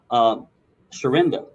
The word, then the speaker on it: Sharinda: Sweetheart, Sharinda. Am I pronouncing that correctly? Yes, that's correct.